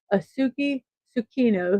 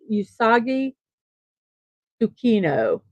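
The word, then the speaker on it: Usagi Tsukino: a young girl named auki sukino who received a brooch that transformed her into the titular Sailor Moon and yes I apologize for saying that name wrong I believe it's usagi sukino I hope I corrected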